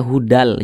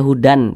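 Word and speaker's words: هُدًى لِّ: dimasukkan ke huruf lam maka ini dibaca hudal jangan dibaca Hudan tapi hudal kemudian pendek saja jangan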